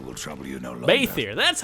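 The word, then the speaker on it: Bheithir: Baethier, that's how you pronounce it.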